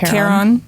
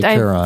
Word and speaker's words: Charon: There's a big moon that Charon.